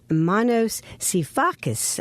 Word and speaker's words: Manos Sifakis: in the Delaware Valley Our Guest today is Manos sifakis I pronounced it correctly Manos you absolutely did okay